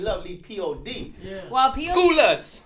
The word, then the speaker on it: P.O.D.: The pod? Is that what you said? Lovely pod? Am I saying it right? Oh, P.O.D. P.O.D. That's why I had to double check.